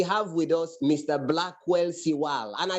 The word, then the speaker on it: Siwale: Names are not necessarily pronounced the way they are spelled. Blackwell Siwale, not Siwale. Yes. That's why when the class captain said Siwale, I said, no, that's not the name of the lecturer.